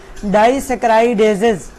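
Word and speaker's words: disaccharidases: फिर हम इसको क्या प्रोनाउंस करते हैं, डाइसैकेराइडेजेस।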